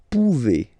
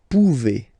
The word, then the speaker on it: pouvez: Then vous pouvez. Okay, classic ending as well for the vous form. A Z like that. Okay, remember you pronounce it e. Okay, vous pouvez. Vous pouvez.